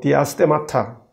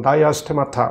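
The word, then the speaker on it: diastemata: 치아와 치아 사이의 틈을 헬라어로 디아스테마타, 영어로 발음하면 다이아스테마타 뭐 이렇게 합니다.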